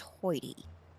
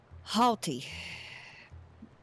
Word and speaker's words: haughty: I've never heard that word pronounced hoity. Heard it pronounced hoity. Or, well, that's not even quite right. Okay. I get tongue-tied. Overlook me. Haughty. Hoity makes me think it's got double O or some U's or something in it.